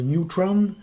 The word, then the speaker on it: neutron: Alors on pourrait aussi chipoter le neutron, là on va le prononcer à la française, puisque ça existe aussi, c'est un neutron.